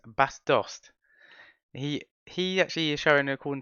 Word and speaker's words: Bas Dost: It's not Das Boss. It's Bas Dost.